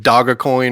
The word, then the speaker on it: Doge: like he did with is it Dogg coin or Doge Dogecoin yeah it's spelled there's a picture of a dog it's Doge though it's Doge yeah it's kind of like